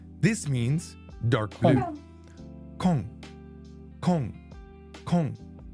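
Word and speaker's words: 紺: Kong. Kong. It's not cone. Cone. Kong. Kon.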